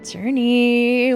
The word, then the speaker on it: Jurnee: Journey Smlette.